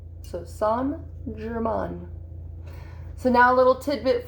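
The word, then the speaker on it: St-Germain: And instead of saying saint, you actually say son. So son Jer Mahn.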